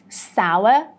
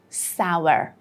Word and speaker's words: sour: It's not sour, it's not sour, it is sour, the British pronunciation, and sour, the American pronunciation. Remember that story of unstressed R's? Yeah, the same goes here. The British version, we would say sour, sour, and in American pronunciation,